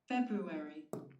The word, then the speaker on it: February: দেখি এখানে February, February, February, February, February, February. ফেব্রুয়ারি ফেব্রুয়ারি। এটা উচ্চারণটা আসতেছে ফেব্রুয়ারি। এটা এটা আ না, আমরা আ বলতে পারবো না, এটা এটা হচ্ছে কি ফেব্রুয়ারি।